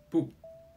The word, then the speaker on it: 不: The second case is the tonal change of 不. When the syllable following 不 is in the first, second, or third tone, 不 is pronounced as the fourth tone. However, when the syllable following 不 is in the fourth tone, 不 changes to a second tone.